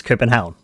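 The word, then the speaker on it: København: Uh, Copenhagen is spelled C O P E N H A G E N. Though I would spell it differently in Danish because it's not uh Copenhagen in Danish. is Cenhound, which literally translates to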